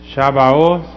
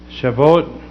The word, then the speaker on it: Shabbat: It's just shabos or some some pronounce it shabot and it's in the scriptures.